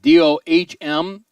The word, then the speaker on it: Dohm: pitcher for ball state dohm but pronounced dome in there now runner